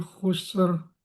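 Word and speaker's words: خسر: Innal insana lafi khusr. Eh, sama sin juga ada desisnya.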